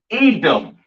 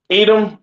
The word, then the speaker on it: Edom: Pronounced Adawam in the Hebrew, all right? Edom, Adawam. Excuse me.